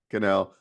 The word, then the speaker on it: Cannell: I can never say his name right. Canal, yeah. Cannell.